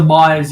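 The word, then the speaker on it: Meijer: One of the Mayas in the US is spelled M-I-E-R, and I think the other Maya is a little bit of a different spelling.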